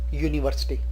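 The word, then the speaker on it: university: यहां एक शब्द है यूनिवर्सिटी, पहला अक्षर इस नाउन का यू है और इसका उच्चारण प्रोनाउंसिएशन यूनिवर्सिटी, यू।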